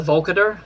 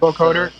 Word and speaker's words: vocoder: And I I know it's kind of cheesy, but they How do you The Vocader? They have the the Vocader. I don't know if that's how you pronounce it. That vocoder.